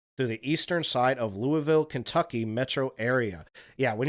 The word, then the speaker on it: Louisville: Yeah, when you're in Kentucky, it's important to pronounce that Louisville. Okay? Okay, if you're up in Kentucky and you say Lewisville or Louisville, everybody up there will get all upset with their accent and be like, "It's Louisville.